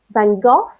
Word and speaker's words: van Gogh: yeah he's saying because there are many different pronunciations of his last name I've heard it English you say then go van Gogh by same thank thank gosh van Gogh yes